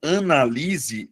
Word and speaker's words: analise: O primeiro caso, analise, é verbo, Luana. Mas aí você vai perceber, analise. A sílaba tônica é a anterior. Beleza? Eh, é a penúltima sílaba.